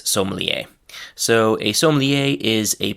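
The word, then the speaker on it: sommelier: So the first word from this category is somier. Um the English pronunciation is very close to this somier.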